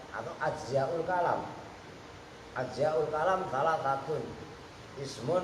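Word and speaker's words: كلام: Kalam, nah pertama dibahas dengan bifathil kaf, dengan dibaca fathah kafnya ka.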